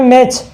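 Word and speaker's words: match: ऐसे हो गया मैच, मैच जानते हो। अब मैच की स्पेलिंग ये होती है, अब क्या पता तुम कौन सी लिखते हो, ये होती है, टी यहाँ पे साइलेंट हो जाता है।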